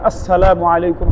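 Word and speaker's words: السلام عليكم: যেমন আসসালামু আলাইকুম। হামজা উচ্চারণ করা, সিন উচ্চারণ করা, মিমের পেশ উচ্চারণ করা।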